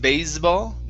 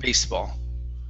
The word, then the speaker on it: baseball: Unvoiced S instead of baseball, baseball.